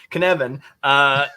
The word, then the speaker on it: Cynefin: it's in Welsh, and Welsh may as well be Greek, and there's too many consonants, and help me out. Listen, you're the first. This is the first show I've been on where the host said it right.